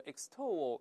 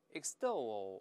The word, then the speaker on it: extol: 注意不要读 extol，这个 x。因为一个是在作怪，所以后面这个字母 t 还会轻轻浊化成的这个声音。再来一遍 extol，对了，而不要读成 extol，这个发音不对。